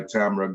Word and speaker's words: Tamra: life and uh by tamra gabriel and it's pronounced tam ra the and the woman is called tamara but the man is called tamra yeah an american that's